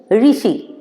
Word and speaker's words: ऋ: अ, आ, ई, उ, ऋषि, रू नहीं, हाँ ऋषि। क्योंकि संस्कृत में जब किसी वर्ड के साथ मात्रा लगी होगी, तो अगर हम उसको रू पढ़ेंगे तो हमारा इंग्लिश में जब हम ट्रांसलेशन करेंगे तो आर यू लिख दोगे आप और रॉन्ग पड़ेगा। हमें लिखना है आर ई या आर आई, ठीक है।